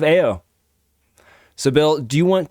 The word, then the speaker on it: Eoa: in the world of eoa no i said it wrong in the world of ao so bill do you